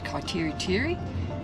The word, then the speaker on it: Kaiteriteri: of a look-see we're on our way to kaiteriteri because that's how you pronounce it and we've decided to take the